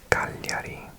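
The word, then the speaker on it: Cagliari: This is G L and in Italian that means you pronounce the L like and the G is silent.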